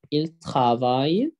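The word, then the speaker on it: travaillent: إل ترافاي، آخرها أو إن تي، ما بتتنطقش.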